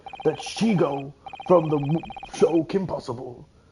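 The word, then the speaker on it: Shego: Also, I just watched a video of someone saying that Shigo from the show Kim Possible, the way to pronounce her name is Shiego, which is the stupidest thing I've ever heard.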